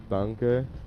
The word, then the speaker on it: Danke: Isn't it like Danka or some shit? Das gut. No. Why? Das gut. Danke. Danke Schön. is schön. Is danke.